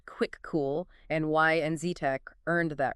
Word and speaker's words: Kvikoo: So just to quickly recap our deep dive today, we've looked at the Kuviku impact honors pronounced quick cool and why NZTEC earned that recognition.